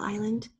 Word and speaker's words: island: remember at a spa island island has a silent sound in it it is actually a long I but we have the silent mess and then we just